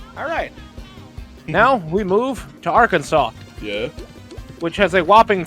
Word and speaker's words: Arkansas: Arkansas must be pronounced Arkansas.